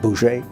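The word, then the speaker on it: Bose: Chandra B who it's spelled BOS but it's pronounced something like Bou and they were violent they wanted to use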